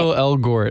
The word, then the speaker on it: Ansel Elgort: Ansel Elgort. I keep overpronouncing it.